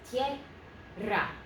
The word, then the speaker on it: tierra: It's not a three-syllable word, it's just a two, so this is tierra, tierra, tierra, two syllables, tierra. Can you try it? Tierra. Okay, so it's a two-syllable word.